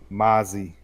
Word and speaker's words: Mazi: And I was like, oh, it's Mazi. All right, first of all, I gotta get the pronunciation right.